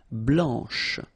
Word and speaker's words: blanche: final C, and then blanche. Okay, remember when you combine this CH, you get the sound sh, blanche.